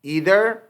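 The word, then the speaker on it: either: Each, ईदर, नीदर। अच्छा, कुछ लोग इसको आइदर भी पढ़ते हैं, नाइदर भी पढ़ते हैं, लेकिन ये दोनों प्रोनाउंसिएशन ठीक है।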